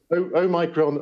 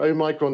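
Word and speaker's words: omicron: they pronounce it differently well i studied classics so this is this is oh okay i'm going with that then yep it's a micron o micron an omega so o micron is a little o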